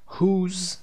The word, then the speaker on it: whose: اما whose که تلفظش هم یه مقدار با اونها فرق داره چون WH اینجا صدای ه میده.